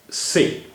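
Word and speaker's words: ث: But in Urdu, the majority of speakers, you may say 95% or 98% or 99% people, pronounce it as sa, as s in say, as s in say.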